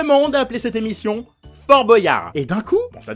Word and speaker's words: Boyard: Et d'un coup, bon ça date déjà un peu, mais les gens se sont mis à l'appeler Fort Boyard. Bordel, mais c'est moche! Arrêtez ça! Alors certes, c'est peut-être plus logique de prononcer ça comme boyau, mais l'esthétique, vous en faites quoi?